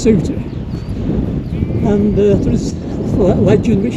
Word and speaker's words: Souther: And Sootyfell is spelt Souther, pronounced Souter.